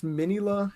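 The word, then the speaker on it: Minilla: And then like he talks to I think it's Minila is how they say it.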